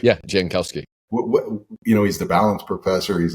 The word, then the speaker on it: Jankowski: I'm like, really, this Greg Jankowski, am I pronouncing it right? Yeah, Jankowski.